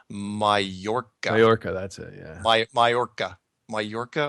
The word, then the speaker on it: Mallorca: Oh, by the way, I just got a message from somebody that said the island is pronounced Mallorca. Mallorca, that's it, yeah. Mallorca or Mallorca? No, Mallorca.